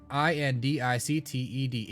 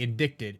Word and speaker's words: indicted: indicted or indicted i-n-d-i-c-t-e-d explain to me why the c is silent explain this to me